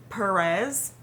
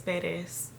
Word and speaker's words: Peres: feeling that day yeah growing up I always heard Perez the proper way to say is Peres it's a really common